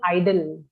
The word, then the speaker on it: idol: model like an idol pronunciation is idle and ideal is a different word must be what you